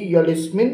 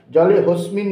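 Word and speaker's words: জলেঽস্মিন: এটাকে বলে লুপ্ত আকার এই হ এর উচ্চারণটা হবে না জলে হবে জলে হসমিন বলবেন না জলেসমিন সন্নিধিং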